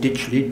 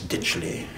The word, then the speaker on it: Ditchley: a multimillionaire, who had a big estate called Ditchley, D-Y-T-C-H-L-E-Y, not even D-I-T-C-H.